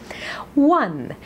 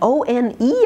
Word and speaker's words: one: a free ride here one now w n and o n e are pronounced the same 1 2 three and